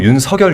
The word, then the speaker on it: 윤석열: 근데이 그 윤성열이 제가 이제 발음을 할 때 윤성열 이렇게 발음을 하거든요. 네. 근데 이제 대부분 윤석열 이렇게 발음을 하잖아요. 뭔가 맞나요? 아 이거는 한자로 보면 윤석열이 맞는데 그 얘기를 하더라고요. 본인이 이제 원하는게 윤성열로 들리길 바랬다고.